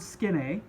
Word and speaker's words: skene: The Greek word skene, that's how you pronounce that.